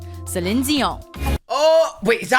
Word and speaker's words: Celine Dion: Celine Dion. Oh, wait, is that how you say your name? I thought it was Celine Dion.